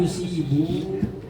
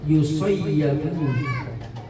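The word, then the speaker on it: يُصَيَّبُ: maftuhati mabniyun lil majhuli, berarti bacanya fa in yusayyabu. Cuma umumnya yusibu nih di hadis-hadis, tapi menurut pensyarah kitab nih yakni Syekh Al-Imam An-Nawawi itu bacanya ditasdidkan ya dengan fathah, yusayyabu dengan majhul. Jadi sayyaba yusayyibu, berarti majhulnya sayyaba yusayyabu, bacanya yusayyabu.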